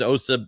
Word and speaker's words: Osa: I was like, his name's Osa.